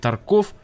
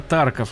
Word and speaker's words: Тарков: Ютубе зачем-то упорно говорит «Тарков», лучше не попадаться на глаза разработчикам. Почему именно Тарков, а не Тарков, уже многократно было объяснено, и даже в самой официальной группе ВК стоит ударение на букву А.